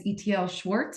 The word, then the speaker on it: Itiel Shwartz: His name is Itiel Shwartz. I hope I'm pronouncing that correctly.